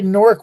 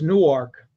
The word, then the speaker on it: Newark: Brunswick okay hey Vinnie you say Newark with three syllables when you're from this part of the country it's n one yeah I was always